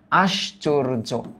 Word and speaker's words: আশ্চর্য: ফাস্টে আমরা বলছি আস ফাস্টে আমরা বলছি আস তারপর আমরা বলছি চোর আসচোর তারপর আমরা বলছি য আশচোর ওকে আশ্চর্য এবার কি মেঘমালা নরমালি এটা যখন সিঙ্গেল ব্যবহৃত হয় তখন উচ্চারণ করি আমরা মেঘ।